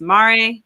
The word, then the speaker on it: MARE: She's the Policy and Outreach Director at Marine Research and Exploration, which I think is pronounced Mare.